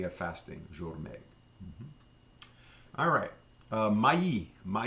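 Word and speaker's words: maïs: it in my E we don't pronounce the S but my is the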